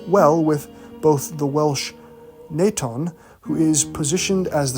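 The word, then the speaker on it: Nwython: case we have this God named naton but it is spelled n w y t h n however it is also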